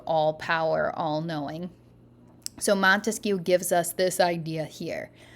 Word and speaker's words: Montesquieu: And I want you to think about how many syllables Montesquieu has in it and clap it out to yourself. Montesquieu. There's 3 syllables in there.